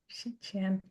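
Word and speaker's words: 希迁: Could somebody say how to pronounce that master name? Yeah. Sure. 石头西迁. Shichian.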